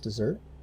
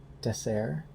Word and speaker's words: Desert: it looks like desert i think it's pronounced dessert um so again for